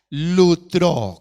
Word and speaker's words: lustro: término se llama lucro lustro con doble o al final lustro lutero el acento en la primera o lucro o lucro esa